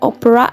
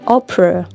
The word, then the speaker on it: opera: Number 12 ada opera, opera, bukan opera tapi opera. Oke, jadi huruf E ujung kiri itu bacanya E ya.